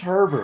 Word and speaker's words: Herbert: The Michigan, it's It's spelled just exactly the same. it's Herbert. It's just Herbert.